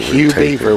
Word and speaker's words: Hugh Beaver: He should know that Hugh Beaver with a silent G. Yeah. Otherwise, it'd be Huge Beaver.